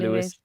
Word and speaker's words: Lewes: play with you at Lewes, am I pronouncing it right? Is Lewis, that yeah, Lewes? Lewis, yeah.